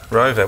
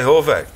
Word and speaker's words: Horvat: Rovat. Why did I say Horvat? Because it's a silent H.